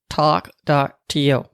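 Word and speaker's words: Tawk.to: I've also got a new texting bot called Talk.to. And I'm saying that not because I have a Boston accent, which I do, but it's spelled T-A-W-K.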